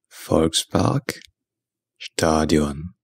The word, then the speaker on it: Volksparkstadion: German football club hamburger Ein German it is pronounced Fox Park Stadium Fox Park Stadium but in English pronouncing it